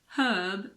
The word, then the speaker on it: herb: air honest h hour in American English the H in the words herb and herbal also aren't pronounced so in American